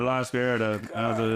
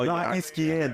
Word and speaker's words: La Izquierda: How do you say it? Oh, La Izquierda. La Izquierda. AKA the left. Yeah. You mean La Squierda.